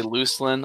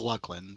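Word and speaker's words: Lucan: you hear that beard luckin how is it pronounced well some people say Lucin I used to say uh Lan I used to say Lucin whenever I was growing up I know it's luckan but it's just hey h Sky Ripple thank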